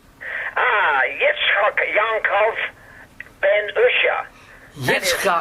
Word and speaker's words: Yitzchak: Yitzchak. That is the actual way it's pronounced.